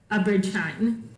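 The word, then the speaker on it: Abrid Shine: And then I realized it was Abridgine. Am I saying his name correctly? I pronounce it as Abridgine.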